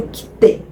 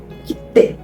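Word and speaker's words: 切手: Mas aqui eu vou dar o exemplo do kite. Kite. Se você ver, tem meio que uma mini pausa ali entre o ki e o te, né? Kite. E a gente pronuncia com um pouquinho mais de força.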